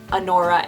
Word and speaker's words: Annora: I prefer the spelling Annora, A-N-N-O-R-A, like Nora.